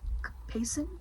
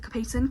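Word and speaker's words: capsaicin: Um this chip like most spicy things contains um capiskin I think is how you pronounce it. C A P A I S C I N Capacin Kapis contains spicy chemical.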